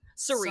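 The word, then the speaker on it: Cirie: It's literally like, It is pronounced she Sari, is right? Sari, Sari.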